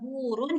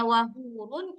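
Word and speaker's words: وَحُورٌ: Nah, kalau kita bacanya wahurun itu berarti H besar bukan H yang ini. Ah, gimana bacanya? Ini keluarkan dari tengah tenggorokan. Di tengah tenggorokan dia tempatnya.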